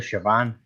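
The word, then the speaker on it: Samhain: I'm assassin I don't some say s but it's actually Shan no I'm gonna Sayan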